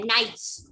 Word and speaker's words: knights: K को silent करना है, knights.